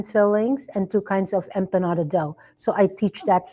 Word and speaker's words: empanada: Empanada. What is that? Oh, it's empanadas.